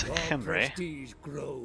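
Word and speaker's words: Khemri: over there to besiege kimray and that is the proper way to pronounce it is henry yeah yeah yeah so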